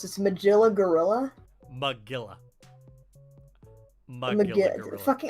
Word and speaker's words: Magilla: Well, you have to think logically, it's meant to rhyme with gorilla. Magilla Gorilla.